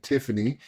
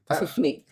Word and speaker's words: Tiffney: So look, we're here to talk about marriage and ministry, and of course we have Joel and Tiffany, and Tiffney.